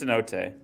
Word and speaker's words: cenote: Although, why is cenote? Is that how it's pronounced? Cenote. yes, it is cenote.